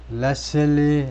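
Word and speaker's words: Letsile: 사람이 참여하기를 원했다 렛 레슬리 레슬리 베고 보고 보고고이 발음이 레슬리 겁니다 레리레리 toco 보나이 사람이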